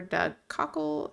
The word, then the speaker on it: Doug Cockle: have the voice lines from the game actor Doug Cockle, I believe is how you say his name.